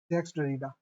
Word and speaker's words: Jacques Derrida: लें इनको ये है जैक डरीडा है ना हां या इनको जैक्स डरीडा भी बोला जाता है प्रोनाउंसिएशन इनका ये है जैक्स डरीडा एक पहले हम समझ